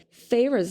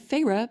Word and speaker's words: Feyre: That's a foreshadowing of Feyre becoming a fairy. Woo! Which, honestly, the second that her first syllable in her name was Fae, I was like, oh yeah, she's going to become a fairy.